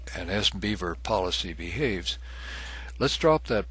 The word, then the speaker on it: SBVR: It's commonly pronounced SBeaver, and it's used to create languages specifically for business rules, and in our case, for access policies.